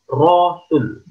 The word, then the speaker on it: Rasul: namanya Syahadat Rasul disini meskipun tulisannya Rasul anak-anaknya Hai dibiasakan membacanya Rohul Syahadat Rasul bunyinya wa